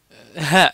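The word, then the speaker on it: ه: ça c en effet ha vous voyez comment je le prononce il est aspiré hein et puis vous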